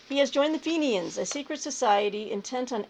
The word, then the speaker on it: Fenians: I pronounced that correctly. He has joined the Fenians, a secret society intent on ending British rule in Ireland by any means necessary.